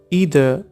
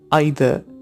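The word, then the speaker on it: either: Number 2 ईदर या फिर आइदर. इन दोनों प्रोनाउंसिएशंस में से आप कोई भी एक चूज़ कर सकते हैं. Both are correct. इसका मतलब होता है कोई भी एक. ईदर या फिर आइदर दोनों सही हैं.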